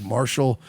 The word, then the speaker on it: Martial: It's actually, I think, Marshall. It's actually not spelled like the Marshalls. It's spelled M-A-R-T-I-A-L, Mr.